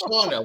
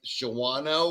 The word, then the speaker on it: Shawano: Well, Shawno doesn't look like Shawno. Oh, Shawno does not look like Yeah. So they would say, pronounce this city, and I would be like Shawano or or whatever, We're like, yeah, you're not from around here.